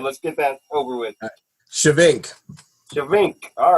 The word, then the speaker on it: Schyvink: your last name let's get that over with shink shink all right cool I definitely want to